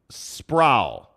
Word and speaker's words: Sproul: Sproul. I can't remember how to pronounce. I think he said Sprout with an L.